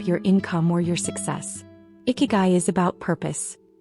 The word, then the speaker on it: ikigai: It's called ikigai. Now don't worry if you've never heard that word before. Ikigai, pronounced eigy, doesn't have a direct